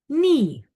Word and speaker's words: knee: Okay, next we have a silent K when it is followed by an N at the beginning of the word. So for example, your knee.